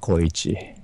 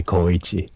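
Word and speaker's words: Koichi: was called kichi okay some of the American people had a difficulty to call me coichi because B is connected o and I and it's very difficult to pronounce for them right it's three syllables almost like kichi someone called me kaachi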